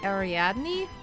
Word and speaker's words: Ariadne: I'm pronouncing it at in the French way, like Ariane. Of course you do. Oh yeah, obviously. Duh. I have never heard the name of Aryan like said, because I haven't listened to like the story of Perseus or something like that, you know? I haven't heard it in in English they say it like Ariadne. Damn.